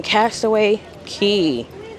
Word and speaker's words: Castaway Cay: Once again, good morning from Castaway Key. Spelled like K, but it's key.